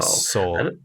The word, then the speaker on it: Seoul: I don't know how to pronounce things correctly at all. Seoul.